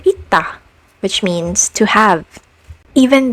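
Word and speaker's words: 있다: Similarly, this consonant is also pronounced as t as a final consonant sound, like in the word ita, which means to have.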